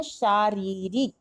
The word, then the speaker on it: शारीरिक: तो सही ऑप्शन हम क्या बोलते हैं, शारीरिक। एक र का उच्चारण रा में बड़ी ई और दूसरे रा में छोटी ई का उच्चारण करते हैं और तालव्य सा होता है।